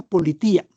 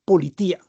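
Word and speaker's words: πολιτεία: En buen griego se pronuncia politía, como si fuera la policía. En griego se se pronuncia politía.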